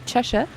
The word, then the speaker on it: Cheshire: If you're from England, it's Chesha.